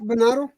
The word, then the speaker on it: Venado: I can't pronounce it. I'm not gonna butcher that shit. You had it right, Venado.